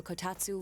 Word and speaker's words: kotatsu: The best compliment to a kotatsu would be a heated rug. What the hell's a kotatsu? Hey Siri. What is a kotatsu? No, not katsu. I might have said it wrong.